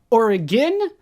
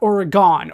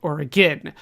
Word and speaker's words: Oregon: First off, Oregon, not Oregon. Oregon seems to be an Eastern United States pronunciation, an East Coast thing, but we here pronounce it Oregon.